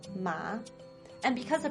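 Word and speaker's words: 马: the word for horse ma except for the tome thing mother uses the first tone ma horse uses the third tone ma and because the pronunciation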